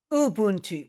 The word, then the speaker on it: Ubuntu: I got to make sure I pronounce it correctly. Ubuntu? Ubuntu with the U.